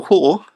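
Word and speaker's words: Hoare: um for obvious reasons this is s Samuel hore who was um and that's spelled h o a um he was the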